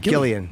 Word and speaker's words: Gillian: I didn't think that how do you pronounce the name? Gillian.